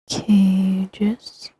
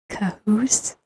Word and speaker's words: Kajus: Cages. If you want to be silly, you could also pronounce it cahoose.